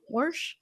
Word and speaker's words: Warsh: you talked about specifically warsh is that how you say his name warsh uh it sounds like the way Missouri say wash but is warsh it's you're you're asking